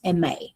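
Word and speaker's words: mā: Okay, so MA was the first tone. Is first of all is flat, and secondly is high. Ma, okay, it's very high.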